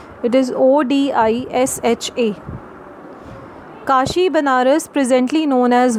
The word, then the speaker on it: Odisha: The spelling of Orissa has been changed and the pronunciation is called as Odisha. It is Odisha.